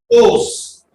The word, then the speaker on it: Oss: Os. Oss is spelled as OSS.